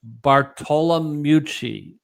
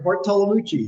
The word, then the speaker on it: Bartolomucci: But I'm going to say Bartolomucci.